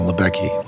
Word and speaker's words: Lubecky: Attorney General United States my name is libecki last name is spelled Lu B as in boy ec k